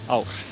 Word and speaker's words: ár: We often say it like that, and then you say farsælt komandi ár. Farsa komandi ár. Nei. Ár. Ár. It's like A with a dot and that's just au.